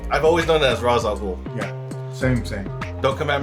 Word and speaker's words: Ra's al Ghul: Ra's or Raish, depending on how you want to pronounce it. Mm-hmm. It's been pronounced, I heard, both ways, but I've always known it as Ra's al Ghul.